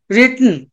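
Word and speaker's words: written: Right, WRATE, రోట్, WROTE అన్న, రిటన్. చూడండి, ఎప్పుడైనా మనకి WR తో ఏమైనా వర్డ్ స్టార్ట్ అవుతే W సైలెంట్ అవుతుందండి. whenever we find a word starting with the WR, W must be a silent letter.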